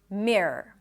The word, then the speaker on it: mirror: So r schwa r. It has to be quick. R. And when you say it quickly, the entire word it just sounds like a long r. mirror.